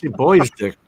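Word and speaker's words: Bois d'Arc: would you say that big dick yeah boys boys dick yeah boy dick B what is it bodar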